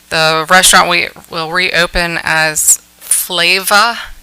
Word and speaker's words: Flava: The restaurant will reopen as Flava. It's spelled Flayva.